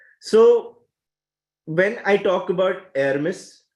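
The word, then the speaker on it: Hermès: when I talk about air Miss as how it is pronounced in Paris and Louis Vuitton Rolex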